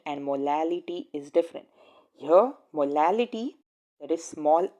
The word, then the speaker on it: molality: another formula for molality this word has to be pronounced properly this is molality there is another word which has r over here instead of l and that is molarity and the definition for